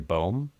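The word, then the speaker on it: Boehm: They lean on things like Barry I've always pronounced it Barry Bow which I think is how it is pronounced but I'm always uncertain.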